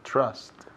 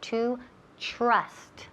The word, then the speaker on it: trust: To trust. La TR ahí sounds like como si fuera una CH. CHR. Trust. Y también esa U suena como si fuera una A, casi. Trust. Trust.